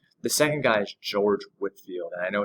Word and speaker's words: Whitefield: ways of christianity the second guy is george whitfield and i know it's spelled whitefield but he pronounced it at woodfield